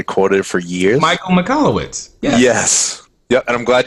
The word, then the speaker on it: Michalowicz: Michael Michalowicz. Yes. Yep, and I'm glad you pronounced that correctly, because I would have butchered that name.